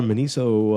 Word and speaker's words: Miniso: is a fifty dollar mini so uh mini so is how you say miniso minizo uh gift certificate yeah